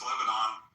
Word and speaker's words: Lebanon: Yeah, I mean, I think a good test case is Lebanon.